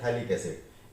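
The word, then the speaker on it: phthalic acid: यहाँ पर जो ये पीएच है ये साइलेंट है, ये प्रोनाउंसिएशन नहीं होता, तो इसको क्या पढ़ते हैं? इसको पढ़ते हैं थैलिक एसिड।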